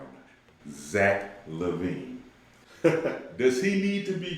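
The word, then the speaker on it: Zach LaVine: Zach Levine.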